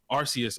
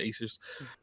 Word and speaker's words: Arceus: With the new Pokemon coming out, Legends of Acers, whatever, the new company doing it, Arceus. I said Acers.